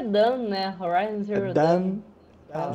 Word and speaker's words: Dawn: É, eu acho que é Dan, né? Horizon Zero Dawn. Dan. Zero Dawn. Aí saiu. Não, é Dawn, mesmo.